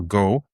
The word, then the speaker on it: Gao: Uh Francois Gao or Go, sorry, the way it's pronounced over there.